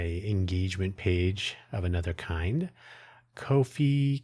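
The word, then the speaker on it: Ko-fi: kofi kofi I always pronounce it like that to emphasize that it is not a normal spelling.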